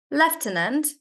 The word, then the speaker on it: lieutenant: In British we pronounce this as left tenant and in American we pronounce it as lieutenant.